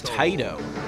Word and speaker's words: Taito: Available where All right, and now we know how to pronounce Taito.